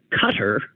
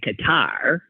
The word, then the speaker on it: Qatar: it is true that if you pronounce it um like a cutter which I think generally is what Americans say it's okay I used to say Qatar and then people started saying cutter so I went with